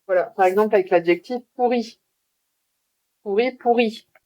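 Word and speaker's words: pourrie: Par exemple, avec l'adjectif pourri. Pourri, pourri. Au féminin avec un E. Bah, ça se prononce exactement de la même façon.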